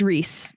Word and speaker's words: Rhysand: And there's a character and his name is spelt Rhysand. Rhysand. It's Reese.